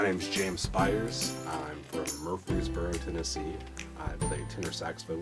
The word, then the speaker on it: Murfreesboro: Murfreesboro. How do you pronounce it?